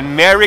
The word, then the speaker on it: Merry: É Merry Christmas dessa forma aqui.